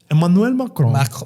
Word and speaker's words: Emmanuel Macron: So, we had um French President Emanuel Macarron here and how do you pronounce it? Emanuel Macron.